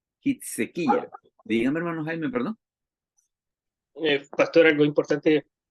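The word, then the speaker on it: חזקיהו: Y en hebreo se dice se dice Hitsequilla, Hitsequilla.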